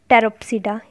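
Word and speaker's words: Pteropsida: इसकी classification, pteridophyte को हम कैसे क्लासिफाई करेंगे, इसके चार ग्रुप्स हैं, सिलोप्सिडा, P silent सिलोप्सिडा, लाइकोप्सिडा, सिफेनोस्पिडा एंड टेरोप्सिडा, hair P is also silent.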